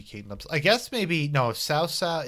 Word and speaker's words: Cao Cao: Now, Cao Cao's name, I've heard so many different pronunciations. I've heard Tao Tao, I've heard Cow Cow, and I've heard Cao Cao. This game pronounces it Cao Cao. I always thought it was Cow Cow, or something like that. Not possible. Cao Cao.